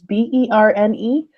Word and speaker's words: Berne: I believe it's called the Berna Convention. It's Berne convention.